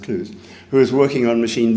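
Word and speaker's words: Clowes: But about 9 years later, I met a person called Max Clouse, C-L-O-W-E-S, spelled Klaus, but pronounced Clues, who was working on machine vision, who had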